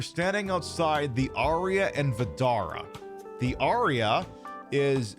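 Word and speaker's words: Vdara: and we are standing outside the Aria and Vidara. The Aria is a, too big. So, yeah, exactly. So yeah, the Aria, god damn it. So the Aria and Vidara.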